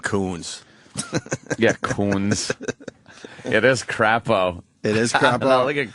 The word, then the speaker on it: Crapo: yeah Coons it is crapo it is crapo look at crapo it's they were like and crepo and Idaho crepo it's like no no it's crapo c AO is crapo